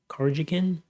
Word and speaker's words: Karjakin: Karajan, I gotta figure out how to pronounce this guy's name. Karjakin?